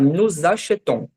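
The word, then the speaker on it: nous achetons: não tinha visto antes, que o nu antes, né, a gente tava pronunciando e a gente não pronunciava o s, a gente falava só nu. Quando tem uma vogal na frente, a gente vai transformar esse S como se fosse num Z e vai ficar nocheton.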